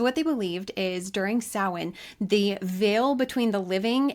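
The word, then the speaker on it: Samhain: So, first there's Sam Hayne. Uh, sorry, it looks like Sam Hayne. It's actually pronounced sin.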